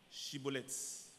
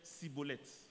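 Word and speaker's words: shibboleth: Il lui disait alors, eh bien, dis Chiboleth. Et il disait Siboleth, car il ne pouvait pas bien prononcer. Sur quoi les hommes de Galade le saisissaient et l'égorgeaient près des gués du Jourdain.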